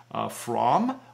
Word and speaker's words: Fromm: And then we also use Fromm, which is spelled F-R-O-M-M.